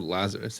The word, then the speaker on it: Lazarus: Okay, it's not French or anything. It's just called Lazarus.